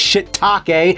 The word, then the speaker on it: shiitake: know what it is it's shiitake but it's spelled take this game looks like